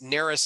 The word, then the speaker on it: Narus: not hard to find my last name is neris it's spelled n-a-r-u-s if you google me i'm the